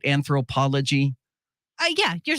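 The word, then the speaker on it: Anthropologie: aware of that brand is that am I saying it right anthropology uh yeah you're saying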